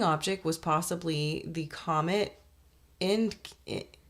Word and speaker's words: Encke: Whipple proposed that the exploding object was possibly the comet Encke. I don't know how to pronounce this. It's Encke, which is a comet that